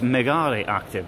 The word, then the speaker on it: Mega Reactive: Here we are, Mega Reactive. Ah, that's how you say it. So I thought it was Megare Active, but no, yeah, Mega Reactive.